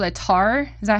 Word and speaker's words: tar: And the the other instrument is, is that called a tar? Is that how you say it? Exactly, tar, yes.